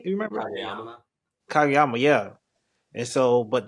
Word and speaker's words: Kageyama: Kageyama.